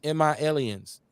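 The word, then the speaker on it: M.I.Liens: I know y'all want to know how to pronounce the name of the show. It's MI Aliens, just like AT Aliens.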